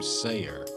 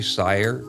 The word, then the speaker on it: Seyer: i pronounced your name sayer oh yeah that's a common mistake but it's actually sire rhymes with fire it's like meyer buyer and guyer and or prior oh yeah cactus prayer